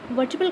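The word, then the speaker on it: vertebrae: वर्टिब्रल column मिलकर बना होता है 33 वर्टिब्रे से। इसको वर्टिब्रे भी प्रोनाउंस करते हैं, वर्टिब्री भी प्रोनाउंस करते हैं। जो इसका प्लूरल है इसमें वर्टिब्री भी कहते हैं और वर्टिब्रे भी कहते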